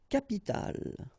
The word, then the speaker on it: capitale: Une capitale, une capitale. So you can see that we pronounce it the same way, but as we had previously, you've got to put this at the end.